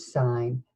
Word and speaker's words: sign: it is mmm now this is another one of those silent letter combinations and in this one we are going to use this one GN and there's the word sign say sign spell sign